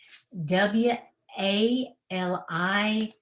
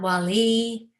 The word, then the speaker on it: wali: to our true self w a l i with the accent on both syllables not wali but wali wali so allah has blessed